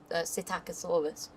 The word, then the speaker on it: Psittacosaurus: tiny ones, which are Psittacosaurus, because P is silent.